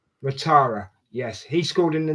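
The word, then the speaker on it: Ouattara: And there was also Dang uh Dango, how do you pronounce his second name, Rich? Watara. Watara.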